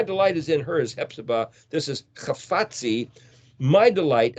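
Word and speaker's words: Hephzibah: So there's a word hepzibah. Instead of pronouncing the chet with the scrapey sound, if you pronounce it as an H, it's hepzibah is in her. So my delight is in her is hepzibah.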